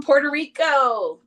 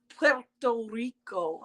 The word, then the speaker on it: Puerto Rico: Hi from Puerto Rico. Hola, Puerto Rico. I never say it right. Puerto Rico.